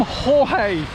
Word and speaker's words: Jorge: the filming store storm Jorge is arriving here in Britain it's pronounced j o RG e and pronounced jorge and which is spanish pronunciation because apparently a spanish meteorologist spotted this storm coming over so they